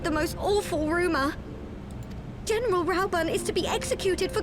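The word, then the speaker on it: Raubahn: we must save rauban see i was pronouncing it right so that now they're pronouncing it rauban okay that's how i was always pronouncing it just saying okay all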